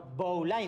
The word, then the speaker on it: Bowline: But its impossible It's a winslow knot Winsor That’s it, Winston No mate, its Bowline, don't act dumb No, Bowline, it's pronounced Bowline, like “bowling” in English for fuck sake, you're